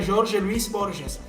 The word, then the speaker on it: Jorge Luis Borges: Isso aqui me lembrou de lo que falava o escritor argentino Jorge Luis Borges, né? Em português se pronunciaria Jorge Luis Borges.